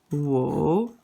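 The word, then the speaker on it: 五: at number five number five is like this whoa whoa this is accent number three and it's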